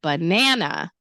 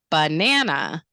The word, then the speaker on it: banana: So banana, banana.